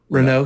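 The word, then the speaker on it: Renaux: guys can help me out how do you pronounce the last name ronnero r-e-n-a-u-x ronnaro run rex renault thank you uh justin thinks he's capable of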